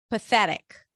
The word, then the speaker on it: pathetic: word we have pathetic pathetic stresses on the second syllable pathetic p pa as in red P voiceless th and then we have a flap t awwa and a C Sound pathetic pathetic all right and